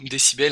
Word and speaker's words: D6BL: bonne donc D6BL ou décibel, hein, moi j'ai toujours appelé D6BL alors que ça se prononce décibel, un micro professionnel car il est groupe il fait de la musique avec dans un groupe.